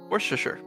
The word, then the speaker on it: Worcestershire: pronouncing Worcestershire sauce. What sauce? Worcestershire.